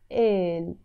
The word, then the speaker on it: قال: We write it قال but we pronounce it إل.